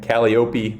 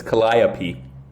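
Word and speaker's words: Calliope: Um, I see a lot of different pronunciations of this one. Caliop, but no, it's it's Colliap.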